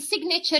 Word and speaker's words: signature: Now we tell them, here you don't pronounce the G, but in signature you pronounce the G.